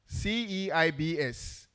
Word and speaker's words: CEIBS: We also have representation from, is it CEIBS? CEIBS. How is it pronounced? CEIBS. Thank you very much.